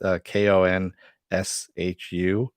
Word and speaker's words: Khonshu: And he also has powers from the god Khonshu. I can never pronounce it. It's Konshu.